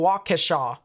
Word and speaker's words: Waukesha: think i got it i think maybe so waukesha there you go um what about rashol let's